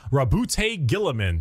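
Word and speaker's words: Roboute Guilliman: Rabute Gilliman.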